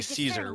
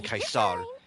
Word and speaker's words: Caesar: Either saying Caesar, which is the game's technical official pronunciation of it, or some people actually saying Kaisar, uh, which is closer to the actual pronunciation of the name historically.